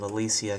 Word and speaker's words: Ecclesia: play through them all in before Order of Alicia came out. Turns out that's how you pronounce it.